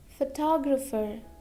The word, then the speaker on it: photographer: Now if we have letter P with letter H, so sometimes we pronounce it like an F. For example, paragraph, paragraph, okay? Next, photographer, photographer, photographer.